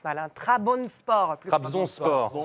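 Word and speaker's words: Trabzonspor: club ne me Chariez pas si je le prononce mal TRABON sport TRABON sport Trabzon sport ça va les gars je suis pas tu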